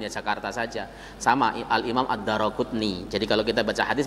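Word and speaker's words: Ad-Daraquthni: Hadis ini riwayat Al-Imam Ad-Daraqutni. Cara yang betul membaca nama harus Al-Imam Ad-Daraqutni, bukan Daruqutni.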